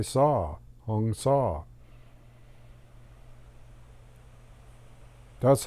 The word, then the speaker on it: sau: and you start exhaling you say saw like s.a.w but it's spelled sau but it's like a band saw or a handsaw so when you breathe